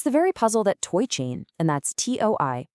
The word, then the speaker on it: TOI Chain: It's the very puzzle that Toy Chain, and that's to oi pronounced toy, was specifically designed to crack.